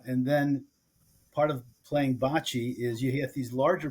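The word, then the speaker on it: bocce: park wi clu s evened bot ball what Bachi that's how you say it bot Bachi B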